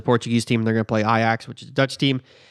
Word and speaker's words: Ajax: going to beat them benfica is playing iax which is spelt like ajax but it's out of amsterdam it's all confusing uh benfica is a portuguese team they're gonna play iax which is a dutch